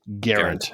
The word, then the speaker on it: Gerant: Gerant is how it's pronounced. We looked that up.